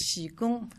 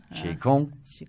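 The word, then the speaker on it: 启功: Alors prononcez-le correctement, s'il vous plaît. Qigong. Qigong.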